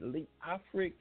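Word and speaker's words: Leofric: spell it for you l e o f r i c lee afric william thomas amen goes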